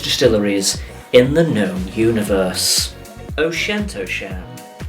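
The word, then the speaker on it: Auchentoshan: how to pronounce the 6 most difficult to pronounce Scottish distilleries in the known universe. O'Shentosham, O'Shentosham, Glass Cow, Glass Cow, Dial Oo Annie, Dial Oo Annie, T9 inch, T9 inch, Glen Saddam, Glen Saddam.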